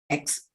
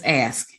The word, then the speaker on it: ask: and he was like Audrey it's not at X it's asked and I was like